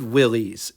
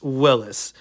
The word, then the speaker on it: Willys: Willis Overland owners and I said Willies and when I said that the look on their face was just utter disbelief that I could consider myself a car enthusiast and not know how to pronounce it. It's Willis and we're not going to fret over it, but that's what it is.